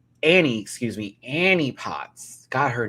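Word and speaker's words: Annie Potts: Discord Adams as Amy Pots. Annie, excuse me. Annie Pots. Got her name wrong.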